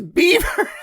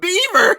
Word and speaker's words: Belvoir: right so and so the name belvoir meaning beautiful view in french and pronounced today is bieber and beaver nice bieber i don't